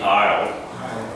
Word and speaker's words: aisle: like IL e night that's the way it's pronounced ILD aisle even though it's AI s LD to my